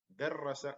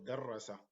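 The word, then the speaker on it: دَرَّسَ: the short vowels so here we pronounce darasa and in this one we say so darasa is to study der rasa is to teach someone so Dar rasa is casual or sorry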